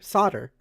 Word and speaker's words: solder: thing yeah what's solder s o l d e r Wait wait wait say it again like s o d e r not solder solder oh yeah but it's it's pronounced solder what does that mean